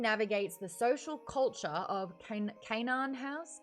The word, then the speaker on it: Canaan: culture of canaan house canaan kate kanan i cannot say it properly okay it was zelda under the desk with the squeak toy um kenyan isn't it kin house kanan thank you colleen kanan nice nice